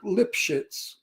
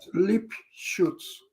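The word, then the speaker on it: Lipschitz: Uh, the Americans pronounce lip shits like that, but in German it's not pronounced that way. How is that pronounced? I never lip shoots. Oh, lip shoots. Okay. But the stupid Americans like the part, so they say lip shits.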